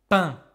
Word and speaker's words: pain: Concentre-toi bien sur la prononciation. Le pain.